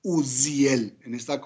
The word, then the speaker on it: Uziel: fortaleza de Dios es Uziel. De esta manera que aquí no lo pronunciamos con la S, sino lo pronunciamos con la Zayin hebrea, que tiene este sonido tan particular.